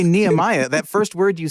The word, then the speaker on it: Nehemiah: Hebrew root think because they tend to say nemia like uh like Jewish people do yeah or some American